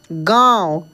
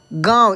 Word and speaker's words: गांव: गांव क्या लिखा है ये दोस्तों चंद्र बिंदु है इसका उच्चारण नाक से मतलब इसका ध्वनि नाक से होता है उच्चारण तो मुंह से ही करेंगे इसका ध्वनि नाक से निकलता है कैसे गांव गांव इस तरीके से ठीक है ना गांव